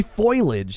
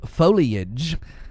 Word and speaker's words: foliage: You know, I used to say foilage instead of foliage.